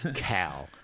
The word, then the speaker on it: Kal: Not like Southern pronunciation of the name Kyle, but Cal. Shut up, Cal. Yeah, not that. Yeah, I know. It was almost K-A-L. Cal.